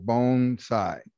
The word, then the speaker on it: bonsai: and what I'm saying, the proper way to say bonsai is think of the word bone, as in my bones, and then the word sai. So bonsai is the correct way to say it.